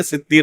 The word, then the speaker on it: ستیر: شیخ البانی رحمہ اللہ نے اسی حالت میں ان کو نصیحت کی کہ ستار اللہ کا نام نہیں ہے، ستیر اللہ کا نام.